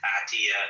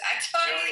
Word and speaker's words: Atai: He's not Atiya. He's not Arab, brother. Don't try to Arabize everything. It's Atai.